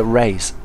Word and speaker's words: Reyes: want to call it race i've got a friend called victoria reyes who it's well same spelling and you pronounce it raise but they pronounce it so i guess race it is anyway here